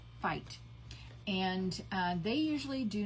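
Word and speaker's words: Feit: This is made by Fight. You spell it F-E-I-T, Fight.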